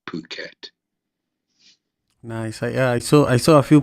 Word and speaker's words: Phuket: It's pronounced Phuket. A lot of people would pronounce it starting with the F, but it's actually Phuket.